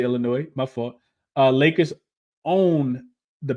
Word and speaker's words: Illinois: The S is silent in Illinois. Did I say Illinois? I meant to say Illinois.